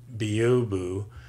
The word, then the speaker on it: byobu: downloaded or I installed with synaptic it is pronounced Bo boo and what it is is a advanced command